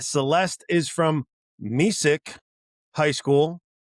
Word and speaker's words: Mesick: Celeste is from Missic High School, not Messic, Missic. Not Messic.